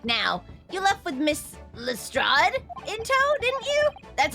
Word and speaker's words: Lestrade: Thinking back now, you left with Miss Lestrade in tow, didn't you?